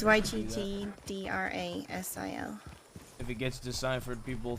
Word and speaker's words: Yggdrasil: It's Yggdrasil.